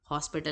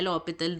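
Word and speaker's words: L'Hôpital: something called as the L'Hopital rule. Hospital नहीं है, वो French word है. S is silent, H is also kind of silent, इसको और जैसे pronounce करते हैं. L'Hopital rule.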